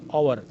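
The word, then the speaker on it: hour: एन इसलिए लगता है कि इस आवर में एच साइलेंट है और ये शुरू होता है ओ से। ओ चूँकि हमारा वावल है, अलिफ साउंडेड है, तो ये अलिफ से शुरू होता है और सिंगल भी है। जब अलिफ से शुरू हो और सिंगल हो तो उससे पहले हम एन लगाते हैं, यानी ये एच साइलेंट है, इसको हम नहीं पढ़ते।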